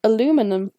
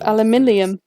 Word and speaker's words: aluminium: call it aluminum but you say aluminum instead of aluminium don't laugh at aluminium